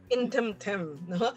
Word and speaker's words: Intemtem: Intemtem? Yes, Intemtem.